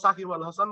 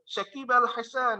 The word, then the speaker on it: সাকিব আল হাসান: ও কিন্তু উচ্চারণ করে এটা সচিন টেন্ডুলকার কিছু একটা উচ্চারণ করে, হ্যাঁ বা সাকিব আল হাসান কখনো সাকিব আল হাসান বলতে পারে না, মানে কি বলবে, শাকিব আল হাসান, এই টাইপের কিছু একটা বলবে, তাই না?